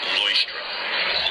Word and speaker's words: Leuchtturm: Leuchtturm. Okay, thank you very much. In the arts and crafts. The brand is pronounced Leuchtturm.